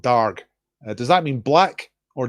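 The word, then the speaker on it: dearg: I've looked up how to pronounce it. I think you pronounce it darg.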